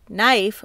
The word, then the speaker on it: knife: how a word sounds knife would only use the n and F sounds even though it has a K in it but it is silent in that word don't worry you don't